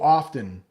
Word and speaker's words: often: been learning at school, we don't pronounce the T in often. Yeah, often, you might see it written as a T, but we actually pronounce it with a D. There are a lot of words like that. So often, it's almost like no sound there or a D sound, like often.